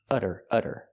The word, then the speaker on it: udder: Now, let's talk about this udder. This one's spelled differently. It has a double D and we do the same pronunciation, the fast D sound. udder.